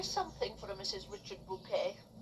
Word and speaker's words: Bucket: Hyacinth Bouquet. Bouquet, not as in the flowers, but it's spelled Bucket. But because she's so, extra, she pronounces it bouquet.